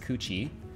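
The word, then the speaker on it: 口: Call, where this is person entering, square is technically mouth, call, pronounced kuchi in Japanese.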